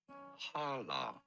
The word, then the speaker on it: Challah: How do you go about pronouncing it? Challah. Okay, really? Challah.